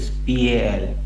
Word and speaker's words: pal: उसमें लास्ट में आपने पॉल वर्ड दिया था. पॉल पॉल मत बोलो उसका उच्चारण. ये कोई स्पेलिंग पॉल बोले तो ये स्पेलिंग है. PAUL. नहीं, इट इज PAL. पाल. पाल. PAL. PAL. पाल.